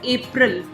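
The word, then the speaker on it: April: We pronounce this word as एप्रल। Right? ये word को ध्यान से सुनो। हम इस वर्ड को क्या बोलते हैं? एप्रिल।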